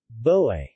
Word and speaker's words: bœi: Boe.